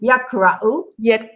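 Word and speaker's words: يقرأ: Not car. There's a sukun over the qaf. Okay. The sukun over the qaf means that you have to stop there. Okay. Yak ra u. So you have three syllables. The first one is yak with qaf, yak, and it stops. Then ra and then u.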